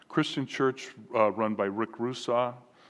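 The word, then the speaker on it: Rusaw: any of you are interested his last name is spelled r-u-s-a-w so Rick Russo he's written a number of books extremely engaging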